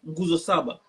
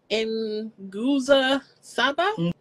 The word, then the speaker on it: Nguzo Saba: They say the holiday focuses on 7 Nguzo Saba, 7 principles which highlight unity, self-determination, collective work, cooperative economics, purpose, creativity, and faith.